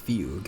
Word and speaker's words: Fugue: Just call me the Trying Fug. Oh, it's pronounced fugue.